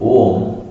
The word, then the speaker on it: Om: If you dissect, if you put on a table and dissect, you will get three syllables. A U ma R plus U, it becomes O. It's known as Samyuka. The conjugation, the conjugation becomes a plus U is O.